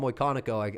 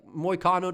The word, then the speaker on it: Moicano: Moicanico, Eric Mecanico, I call him Moicanico. I mispronounce his last name all the time. I don't know why, right? It looks like Moicano to me.